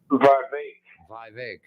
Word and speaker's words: Vivek: Vivek.